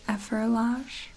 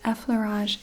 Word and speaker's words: effleurage: effleurage versus efferlage, but effleurage is a French word, and to remember the correct pronunciation and spelling, I just have to remember that fleur, the word for flower in French, is part of effleurage.